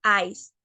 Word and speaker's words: ice: ahora si se preguntan por qué se dice Ice si se escribe i c e es porque cuando una palabra termina en e no se pronuncia la última e la última e es muda cuando una palabra termina